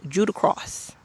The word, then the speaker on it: Judah Cross: Oh, the one thing I got to say, three syllables, two words, Judah Cross.